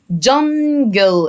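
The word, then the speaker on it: jungle: ذا التي والاتش انطقها ذا جانجل الاي في الاخر ما انطقهاش جانجل ويلكم اهلا بيك تو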